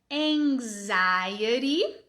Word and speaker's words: anxiety: Começando com um é aberto de cat, an. Esse N com essa pernona aqui vai representar o som ng, que é muito parecido, não é o mesmo som, mas é muito